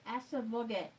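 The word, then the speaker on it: asavakkit: And this word right here, those two K's are not a K sound, they're a G sound. So it's asavoget.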